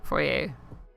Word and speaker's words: foyer: Well, that and the foyer. Foyer, however you want to pronounce it. If you're fancy, it's foyer.